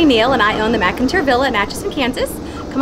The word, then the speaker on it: McInteer: Museum, and obviously the McInteer Villa. I was saying it wrong in the video, but it's McInteer.